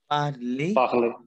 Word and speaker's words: parlez: Then we have vous parlez. Why parlez? Tell me. Because EZ sound is A in French.